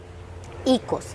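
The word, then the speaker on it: οἶκος: El oikos, bueno, en realidad no se dice oikos, se dice ikos, si lo pronuncias en griego. Obviamente puede tener otro tipo de acento, pero nos enseñaron que es ikos.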